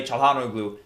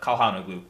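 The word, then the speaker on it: Çalhanoğlu: of you have said I've been pronouncing his name wrong so I'll try to use the H and say Tejano glue instead of Kahana glue Tejada blue so heading into this game Sampdoria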